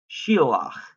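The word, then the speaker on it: שִׁלַּח: Now, if we're looking at in the PL, the two syllables are going to be shil and lach. Because that dagesh doubles the lamed, it makes it a geminate, you pronounce it in both syllables. Shilach, shalach, shilach.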